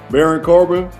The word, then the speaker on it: Baron Corbin: Baron Corbin? Baron Corbin.